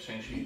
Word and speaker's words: Shang-Chi: Shang-Chi.